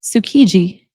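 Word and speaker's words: Tsukiji: And I even dream of going to Sukiji. I'm not sure if I'm pronouncing that right, friends.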